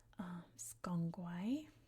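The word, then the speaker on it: SGang Gwaay: The other site that I mentioned is pronounced, once it loads, Skongwai, like that.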